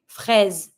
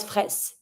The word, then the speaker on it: fraise: So every time you're going to see a word that has an S between two vowels, you're just going to pronounce the S like a Z sound. Une fraise, and not fraise.